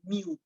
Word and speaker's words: mu: alpha beta gamma thing this one right actually pronounced as mu it's actually m but it looks a bit